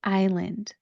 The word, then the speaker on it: island: So it looks like it should be pronounced is land, is land. That S that is in the word is not pronounced.